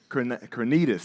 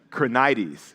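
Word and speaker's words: Krenides: Crrenitus. That's what I said. Uh, that's not even how you say it. Krenites.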